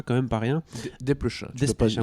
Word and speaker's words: Desplechin: Desplechin, moi j'aime bien dire Desplechin. Oh non, Je prononce toutes les lettres du nom de famille.